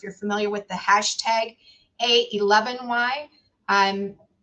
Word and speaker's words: a11y: familiar with the hashtag a11y i'm it is actually pronounced a 11y and not ally and the meaning behind